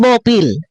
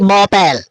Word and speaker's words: Bopil: Bopil, hindi Bopel. Ha? Hindi Bopel. Mabihira. Tayo tumanda na ho. Dapat yan ay tinuturo sa atin kung paano bigkasin ang AEOO. Ay, wag mo magagalit. Lo, ha? Dahil ang bigkas mo ay Bopel. Hindi ho Pel. Hindi ho Pel. Hindi P-E-L. P-I-L.